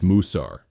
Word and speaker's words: Musar: The third crucial term is Musar, pronounced Musar, meaning discipline or instruction.